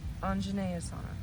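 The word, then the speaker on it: Anjaneyasana: And it's pronounced an anjane. Anjenea asana the salutation pose.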